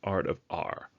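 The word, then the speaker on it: Art of AWR: fellow booktuber of mine known as Art of R, pronounced AWR, who has done tag videos in the past.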